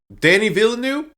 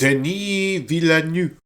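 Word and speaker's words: Denis Villeneuve: Danny Villanu, that's the name. Did I say it correctly? Kind of. It's Deni. Like, he's French. It's French Canadian. So, it's Deni Villanu.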